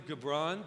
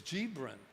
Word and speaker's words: Gibran: what was interesting was was kahil gabron but that's not how it's pronounced it's Gibran because he's from Lebanon and this whole and